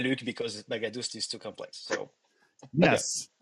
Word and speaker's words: Baghadoust: but my father's come from Iran, and the right way to pronounce it will be a little bit different. The GH make a H sound, and the second A is a different A, so it's Baghadoust.